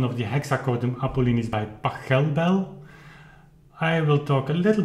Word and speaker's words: Pachelbel: on the fact that the pronunciation of Pachelbel is actually Pachelbel and not Pachelbel, like I was used to do, and apparently many people.